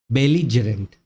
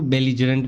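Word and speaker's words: belligerent: तो next word है हमारा बेलजरेंट। बेलजेंट मतलब क्या होता है? लड़ाकू। हम लोग बोलते हैं इसको बेलीजरेंट बोल लो। ठीक है? लेकिन इसका जो एग्जैक्ट प्रोनाउंसिएशन होता है वो होता है बेलजरेंट।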